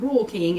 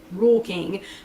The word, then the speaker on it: Rural King: i got them at rural king if you happen to have a rule king r-u-r-a-l-k-i-n-g rural king but we pronounce it rule king and plenty of them